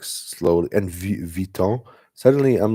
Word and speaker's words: Vuitton: How do you say that in French? Louis Vuitton. And it's like, no, in English we say Louis Vuitton. It's like, no, it's Vuitton, Vuitton.